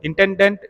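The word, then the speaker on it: intendant: था उसको बोलते थे एतांदा। तो इस तरह से इसका मुखिया हो गया गवर्नर, और जेनेरालिते का जो मुखिया होता था उसको एतांदा, या आप लोग इसका प्रोनाउंसिएशन करोगे तो इंटेंडेंट इसको कहा जाता था।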